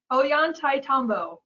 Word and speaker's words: Ollantaytambo: Ashley, you want to pronounce that, one of these places in the Sacred Valley? Ollantaytambo.